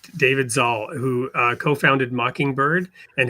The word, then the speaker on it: Zahl: I'm here with um and I got to look up your name to make sure I pronounce it right, David Zaul, who uh co-founded Mockingbird and has a new book out called The Big Relief.